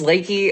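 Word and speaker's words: Leakey: It's spelt leaky, but it's Lakey.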